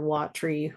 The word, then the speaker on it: watry: single syllable word, or 2 syllables for watry rather than 3 syllables for watery.